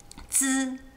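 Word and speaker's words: ㄗ: It's not just zzz, it's zzz, like with a D-ish sound at the beginning. Zi.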